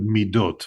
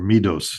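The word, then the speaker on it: מידות: We talk about someone having good midot or midos, as the Ashkenazim pronounce it.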